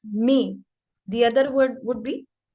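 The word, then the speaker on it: mes: This is may, not maze, it's may.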